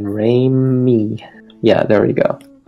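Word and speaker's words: Raimi: say Ramy okay like rain and then Ray me yeah there we go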